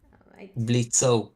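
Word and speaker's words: Blitzø: Blitzo. The O is silent.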